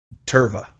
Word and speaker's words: Tirva: Tirva.